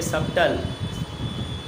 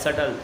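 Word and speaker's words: subtle: अब ये ना ये सबटल, क्या लिखा है, सटल, इसको सटल भी बोलते हैं, बी साइलेंट होता है।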